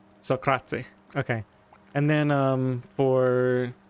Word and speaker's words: Socrate: So at the end when you say the T at the end of Socrates, do you say a vowel sound after it or do you just end it on the T?